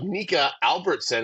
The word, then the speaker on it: Nika Albertson: a vocal warmup okay today we have NAC Albertson is how you pronounce it yeah correct I just saw that